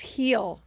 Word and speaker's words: Gil: somewhere um it's pronounced Lis heel I said that I said Luis Gil it's a Jill Gil it's not it's Luis heel J heel heel heel heel yes like Benji heel we always used to